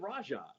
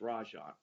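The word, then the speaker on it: Rajon: for many years and you pronounce it Raja now I've heard it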